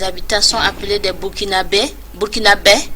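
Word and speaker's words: Burkinabè: Burkinabés, c'est en langue fulfulde, Burkinabés, pour bien prononcer.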